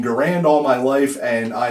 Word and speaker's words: Garand: I've been saying Garand since I was a little kid, even though the man who invented this, his name is pronounced Garand. I've been saying Garand all my life, and I am never going to stop.